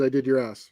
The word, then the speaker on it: adidas: like oh crap and i believe they pronounce it in america as i did your ass or something like that adidas yeah don't apologize you